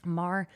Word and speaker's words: Maher: Maher.